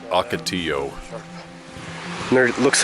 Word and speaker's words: ocotillo: Wow oh and in case you're wondering that's pronounced ocotillo there it looks like there's some SAP coming